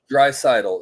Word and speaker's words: Draisaitl: Now help me out with the pronunciation, Jay Lee, but Draisaitl? Draisaitl.